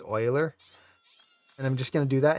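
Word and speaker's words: Euler: are thus to spell of uhler pronounced Oiler and just can do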